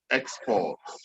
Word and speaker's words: export: So whenever it is a noun, then the stress has to be on the first syllable. But if it is a verb, the stress has to be on the second syllable.